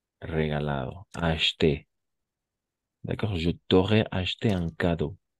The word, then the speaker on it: acheté: Y atención, no vamos a pronunciar acheté, sino solamente así. Acheté. ¿D'accord? Eso es algo bien importante trabajar un poco la fonética. Oui, acheté. Como si una H y una T. Solo eso.